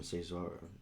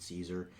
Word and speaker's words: Cesar: So as we add the background harmonies from Cesar, and I say Cesar because that's how I think his name would be pronounced. Apparently they pronounce it Caesar, which I should know.